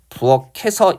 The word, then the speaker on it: 부엌에서: 받침 있는 말에 모음으로 시작하는 형식 형태 속에 되면 끝 의문을 그대로 연음한다고 했으니까 부엌에서 이렇게 발음하는 게 맞아요.